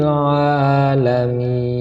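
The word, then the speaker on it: العالمين: Alhamdulillahi rabbil Nah, di sini juga sering terjadi keliru, yaitu terdapat ain. Ini bukan hamzah atau alif, ini adalah ain. Alhamdulillahi rabbil alamin.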